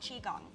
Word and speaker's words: qigong: Well, you also practice something that's called qigong, correct?